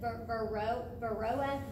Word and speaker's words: Varroa: I believe you pronounce it Varroa mite. V-A-R-R, Varroa mite.